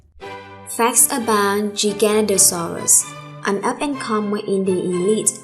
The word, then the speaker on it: Giganotosaurus: Giganotosaurus, pronounced Giganotosaurus, is Greek for giant southern lizard, not gigantic lizard, as it's often mistranslated and mispronounced by people unfamiliar with classical roots as Giganotosaurus.